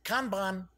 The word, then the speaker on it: Kanban: yes it is pronounced Kanban it almost sounds like a candy doesn't it yeah I'll have another con van one thing I do